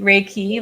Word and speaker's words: Reiki: like a certified raik re how do you pronounce it reiky raiki Reiki like Ray sunlight and a key to unlock